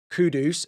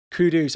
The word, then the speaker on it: Kudus: view, someone like a Kudus, sorry, I know I've been mispronouncing his name over the past few videos, and people have been telling me in the comments, Kudus, I hope that is better.